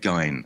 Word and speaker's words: Gein: contemporary version of Ed Gein, I guess, at that point in time. It's, by the way, it's not German. It's Scottish. It's shortened from McGean. So the correct pronunciation is not the German one.